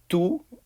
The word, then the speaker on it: tu: an english speaker because it just sounds like the number two two tu um is the informal